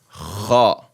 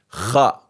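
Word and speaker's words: خاء: And kha, like you're clearing your throat. Kha. This is the next shape group. Jim, ha, kha.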